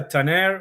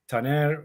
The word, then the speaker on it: Taner: Yeah, Tanire or Taner or Taner. Uh people from different countries can call me with different pronunciations with the accent in the back at the in the front.